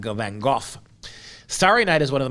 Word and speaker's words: Van Gogh: Van Gogh is, of course, how they would have pronounced his name in his native Netherlands, Van Gogh.